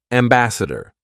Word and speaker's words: ambassador: spelled with an a the actual sound isn't Ambassador it's ambassad so dare aare basad ambassad